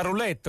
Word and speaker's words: roulette: Si gioca la roulette con l'accento sulla O, giusto?